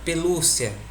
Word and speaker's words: pelúcia: Quando eu falo a palavra pelúcia, a gente vê que a sílaba mais tônica, que soa mais alto, é o LU.